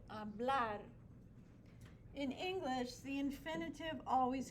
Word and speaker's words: hablar: The infinitive in Spanish always ends with an R, and the stress always goes on that syllable, hablar.